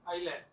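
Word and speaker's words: island: हां जी heroine heroin इज़लैंड ठीक बोलो आइलैंड आइलैंड इको ठीक बोलो प्रोनाउंस करो ठीक इको एक डाटा ठीक बोलो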